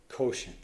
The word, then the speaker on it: quotient: division problem is a rhymes with poent quotient that's it you're you're